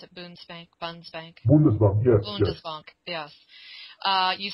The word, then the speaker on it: Bundesbank: Is that how you pronounce it? Bundesbank? Bundesbank? Bundesbank, yes.